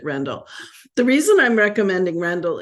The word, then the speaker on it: Rendell: I'm recommending is Ruth rendell's simisola I'm recommending Randall and I will probably say Rendell because that's what it was in my head for 30 years but I believe she pronounced it Randall the reason I'm recommending